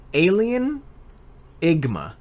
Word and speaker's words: Alienigma: So, it's Alienigma. All one word. But the last syllable of alien is the first syllable of enigma.